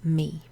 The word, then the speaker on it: me: So me and te, you might remember them because they rhyme, they look similar, and you pronounce them with an e sound, like the letter e.